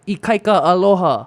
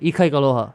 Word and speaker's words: Ikaikaloha: But you don't say it like Ikaika aloha. Right. You just say Ikaikaloha.